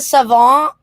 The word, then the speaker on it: savant: I'm kind of a savant, but without the wine. Thank you for not pronouncing the T. I'm a savant.